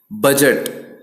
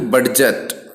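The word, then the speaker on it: budget: जैसे कि जज ना कि जज, बजट ना कि बडजट, ऐसे नहीं पढ़ना है ना, इनकरेक्ट हो जाएगा।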